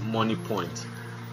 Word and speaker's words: Moniepoint: The M is the initial of their name, so their name is spelled as M-O-N-I-E then P-O-I-N-T, which is money point.